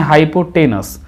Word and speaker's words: hypotenuse: कुछ लोग बोलते हैं हाइपोटेनस और कुछ लोग बोलते हैं हाइपोटेन्यूस। तो आपको जो अच्छा लगे वो आप बोल सकते हैं, लेकिन ऐसे जो है हाइपोटेन्यूस जो है कहेंगे तो थोड़ा अच्छा रहेगा।